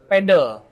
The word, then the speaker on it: padel: Kalau orang ini mah sebutannya padel. Padel. Kalau orang apa? Indonesia. Orang Indonesia padel aslinya. Aslinya pedel. Pedle. Pedle kan. Iya. Itu kayak anoing lah. Iya kan? Jadi emang pengucapannya kayak gitu kalau bahasa Inggris pedal.